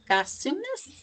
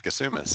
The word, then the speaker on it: Gassoumis: I will tell you a little bit about Zachary Gassoumis. I'm sorry, I can't remember if I asked you how to pronounce it. You got it right, Gassoumis.